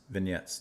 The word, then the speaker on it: vignettes: Um we've kind of gotten hit with like short western vignettes vignettes vignettes vignettes. The G is silent.